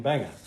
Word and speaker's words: Bange: District it's always been Banger because Banger is the German pronunciation of the original name but my Father John